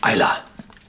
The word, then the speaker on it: Islay: It's spelled Islay, but the Iliach, the natives of the island, call their island Islay.